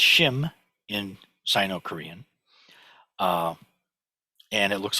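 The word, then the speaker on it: 心: So in the Heart Sutra, when we chant Maha Banya Baramilta Shim Gyong, it's pronounced Shim in Sino-Korean, and it looks like this because it's written as a standalone word, as a standalone character.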